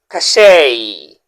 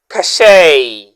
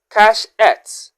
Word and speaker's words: cachet: And our second word, that word, the letters e t at the end sounds a and the stress should be on the first syllable.